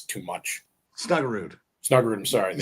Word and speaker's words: Snuggerud: The Snuggergaard and Wood combo. I think it's too much. Snuggerud.